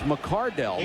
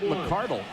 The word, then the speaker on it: McCardell: a letter and said, "You're mispronouncing my son's name. It's McCardell, not McCardle."